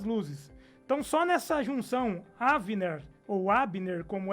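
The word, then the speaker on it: אבנר: É o capitão da guarda de Davi, e ele tem, a pronúncia do nome dele não seria Abner, seria Avner, que Olha é a só.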